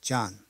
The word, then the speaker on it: John: 여기서 우리가 이 John, John 하면 John하고 발음하기 쉬워요. 근데 좀 아에 가까운 발음을 발음이 됩니다. John, 우리가 상자, 그것도 box, box가 영국 사람들은 box 하잖아요. 미국 사람들은 box, 이와 마찬가지로. John, 이 O가 아 발음이에요. John. 그래서 John이 되는 거죠.